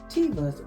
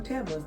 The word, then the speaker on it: Teva: Amazon leggings, and my black and white tribal Tevas or Tevas, depends on how you want to pronounce it.